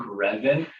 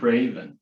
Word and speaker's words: Reyvn: my name is raven so it's l u k e space r e y v n so it's not spelled